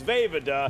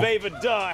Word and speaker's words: Vejvoda: I can now pronounce Jim's last name. It is Vejvoda. There you go. Vejvoda.